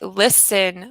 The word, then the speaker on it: listen: yes Carol that's right listen listen listen no T no T sound and listen listen silent